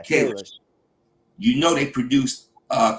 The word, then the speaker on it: Kalish: How you pronounce their name? Yeah, Kalish.